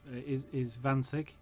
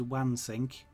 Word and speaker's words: Wansink: my colleague is Vansig, which I know a lot of people in the UK would pronounce it as Wansink. And he kind of said, how did you know to say that the way I said it, because it, I assume it's close but not quite exactly how it's said over there, and I actually don't know. I mean, the German, of course, the W is a V, and I know that's